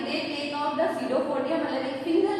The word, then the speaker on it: pseudopodia: मैं वापस से बोलूं, इसको pseudopodia बोलेंगे, P इज अ साइलेंट.